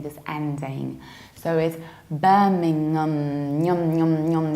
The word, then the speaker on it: Birmingham: like Needham Ingham on bed Lingam whereas we pronounce it like Birmingham Birmingham you have long Barnard beer Matt bar and